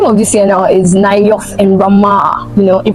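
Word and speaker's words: Naioth: In case you're unable to pronounce it, in case it's Nayoth.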